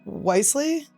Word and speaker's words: Wiseley: is what is that wisely wisely wisely yeah Choose Wisely okay just an extra e in there I don't know where it comes from Choose Wisely girls do you want